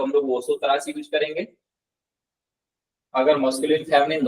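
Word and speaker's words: vosotras: अगर तुम लोग किसी को आपको प्रोनाउंस करना है और उस ग्रुप में सिर्फ फेमिनिन है तो वहां पे हम लोग वोसोत्रास प्रोनाउंस करेंगे, वोसोत्रास तुम लोग, Yes.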